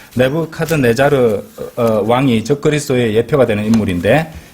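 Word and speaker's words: Nebuchadnezzar: 우리 한글 킹덤 러브한데 정확한 발음으로 내부 카드 내자르입니다 내부 카드 내자르 내부 카드 내자르 왕이 적그리스도의 예표가 되는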